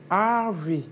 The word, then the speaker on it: Harvey: Bon, j'ai dit Hervé, lui-même, il le prononce en anglais, Harvey.